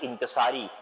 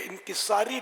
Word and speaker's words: انکسار: Manage کرنا پڑے گا۔ پہلے تو وہ تلفظ کے لیے انکساری لفظ جو ہے نا یہ اہل لغت کے نزدیک غلط ہے۔ انکسار جیسے عجز و انکسار، تواضع، عاجزی، یہ درست.